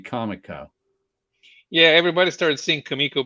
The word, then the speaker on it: Comico: kamiko book definitely rootch I always said it kamiko even though I think it's supposed to be Comico yeah everybody started sing